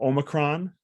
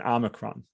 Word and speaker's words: Omicron: One thing that we know is there's 2 ways to pronounce it. So Omicron and Omicron.